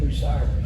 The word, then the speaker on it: Bucyrus: Bucyrus.